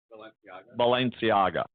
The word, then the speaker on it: Balenciaga: Balenciaga.